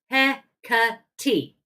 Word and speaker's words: Hecate: I am going to look up how to pronounce it because goddess knows I should know by now. PR. Go ha. Hecate.